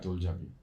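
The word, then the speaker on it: 돌잡이: I read there's also a thing called, do I pronounce this right, Doljabi? Yeah, Doljabi.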